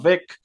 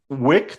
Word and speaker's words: Wick: Bourne or like John Vick or John something. Vick. Yeah. Um, Wick. Did I pronounce it right, or did I go V or W? UNV. I went V.